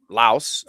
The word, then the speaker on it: Laos: Carried it all around Thailand, and then down the Mekong to all through Laos. I guess it would be. They don't pronounce the S, so it's Lao, and so the whiskey there is Lao Lao.